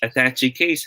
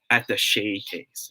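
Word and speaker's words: attaché: the shay case okay it shouldn't be pronounced as attaching case huh okay it should be pronounced as at the shay case yeah so alfie gave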